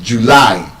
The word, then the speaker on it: July: No, that word is not actually July. It's not stressed on the first syllable. Like that hmm. The stress is on the second syllable. It's July.